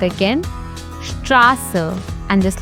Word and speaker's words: Straße: This SZ looks like a fancy B, but it actually makes a sharp SS sound. For example, Straße, which means street. Let's pronounce it again. Straße.